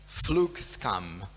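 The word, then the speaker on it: flygskam: And at the same time, I think I'm going to pronounce it right, Flugskam.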